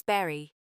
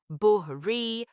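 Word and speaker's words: bury: No K sound, berry pronounced as berry. Nope. It's actually buhri, women pronounced like woman.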